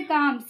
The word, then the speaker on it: calm: जैसे काम, CALM, अब देखिए एल के पहले ए आया हुआ है तो जब एल के पहले कोई भी वावेल आता है तो हमेशा एल क्या होता है?